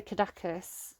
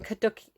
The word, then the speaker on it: caduceus: But I think it's the Caduceus, which I think is Hermes' staff.